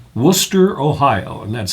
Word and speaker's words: Wooster: And that's spelled w o o s t e r. And not like Worcester, Mass. it's said the exact same way and most people call it Wooster, which and I think